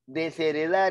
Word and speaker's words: desheredar: de morfemas y segundo la h no existe no interesa no importa por lo tanto es